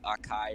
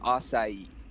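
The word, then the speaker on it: açaí: thing and they're like you're the first person to actually say the name correct you know everyone calls it acai or something like akai or something like that it's pronounced acai huh i uh i'm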